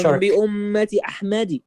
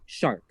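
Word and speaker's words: شِرْك: When you pronounce shark, if you pronounce shirk, right, as shark.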